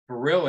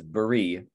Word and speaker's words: Baril: Yeah, I think originally the pronunciation was Baril, because you don't pronounce the L without the E at the end of it.